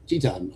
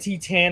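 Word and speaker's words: Titán: Shingo Takagi and Titan, I think is how you say that. Titan is how you. Yeah, Titan, yes.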